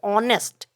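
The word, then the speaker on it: honest: पर देख सकते हैं आप एच लिखा हुआ है, और अगर इसका हम प्रोनाउंसिएशन की बात करें तो ये ऑनेस्ट, तो ये अ से शुरू हो रहा है इसलिए यहाँ पर हम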